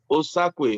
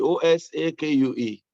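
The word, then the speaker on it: Osakue: you're muted yeah my last name is uh osaku o-s-a-k-u-e osaku i was hoping that he was osaka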